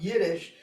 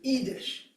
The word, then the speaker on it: Yiddish: And she insisted that it wasn't pronounced Yiddish, it was Yiddish.